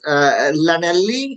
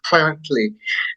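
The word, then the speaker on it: Llanelli: past so uh the Sri Lankans probably would pronounce this it as Lanell l l l a n e l l i whereas the English pronounce it as flanell and the proper Welsh pronunciation which you did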